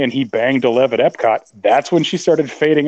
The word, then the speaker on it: Epcot: But anyway, yeah, I mean, yeah, it is Epcot, Gabe. That's the proper pronunciation.